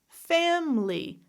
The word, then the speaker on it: family: What about words where I could have 3 syllables or 2 syllables? Again, it's the question of schwa or no schwa. I'm going to go down the list. Different. Company. Family. Remember, both of these are correct.